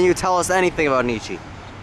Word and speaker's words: Nietzsche: grandfather even tell you about Nietzsche? Yes, actually. He, Can you tell us anything about Nietzsche? His name rhymes with peachy.